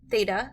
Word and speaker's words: theta: a line through the middle okay this is pronounced Theta it's a Greek letter and it's a variable